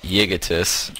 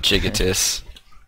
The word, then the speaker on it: Yigitis: Yeah, another side note, by the way, Lurpus has told us that guy's name is pronounced Yigitis and not Jigitis.